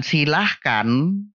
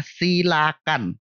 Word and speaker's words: silakan: adalah kadar bukan Keder sedangkan silahkan itu yang benar adalah silakan karena kata dasarnya sila bukan Silah ya selain dua kata